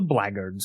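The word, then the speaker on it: Blackguard's: would avoid this item The blackards Gauntlet which yes is how you pronounce it English is dumb like that the blackard gauntlets give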